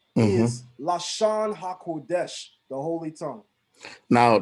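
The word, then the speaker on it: לשון: Lashon is how you say tongue or language.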